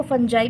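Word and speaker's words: fungi: एसेल्यूलर life, prokaryotes, प्रॉक्टिक्स एंड फंगस और इसको फंजाई भी पढ़ते हैं। इसको फंगी भी पढ़ते हैं। ठीक है? फंगी इसका सही प्रोनाउंसिएशन है।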